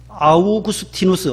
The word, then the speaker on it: 아우구스티누스: 어거스틴은 영어식 발음으로 하면 어거스틴이고 아우구스티누스, 라틴어식 로마식으로 부르면 아우구스티누스예요.